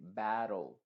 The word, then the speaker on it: battle: Por ejemplo, en palabras en donde tenemos que terminan en TLE, esa E del final se viene y se pronuncia entre la T y la L. Y de hecho la T va a funcionar como una R en este contexto. Se va a decir battle, little.